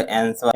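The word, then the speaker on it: answer: अगला प्रश्न है, करा है कि which is a silent letter in the word आंसर।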